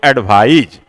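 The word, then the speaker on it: advise: सी से होता है तो स उसका उच्चारण होता है, और एसी से होता है तो ज उसका उच्चारण होता है।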